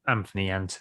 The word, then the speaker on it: Anthony: He's got the H, and I'm very strong about making sure that it's Anthony if there's a H.